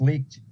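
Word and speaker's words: Licht: then they took CNN Chris leaked I think is how he pronounced it or Lich he was he was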